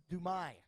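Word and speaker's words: Dumais: out of Corona California Manuel dumai dumai is silent his mom came up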